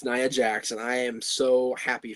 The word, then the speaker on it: Nia Jax: It's Nia, right? I keep saying Nia. Everyone keeps saying I'm I'm pronouncing it incorrectly. Yes, it's Nia Jax.